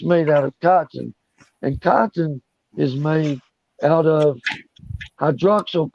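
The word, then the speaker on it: chitin: made out of and this stuff is spelled c h i g i n but you say it cotton cotton and what is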